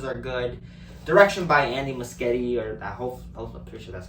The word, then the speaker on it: Muschietti: and the performances are good direction by Andy musketti or that picture that's how you pronounce his name is good very well made